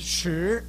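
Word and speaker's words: 十: Now, this word is pronounced sure.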